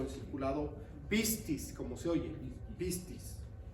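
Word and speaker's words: πίστις: Entonces, la palabra fe aquí y en la Biblia entera viene del griego que se llama pistis, con P, pistis. Griego, la palabra griega que se escribe cuando aparece fe en la Biblia es pistis.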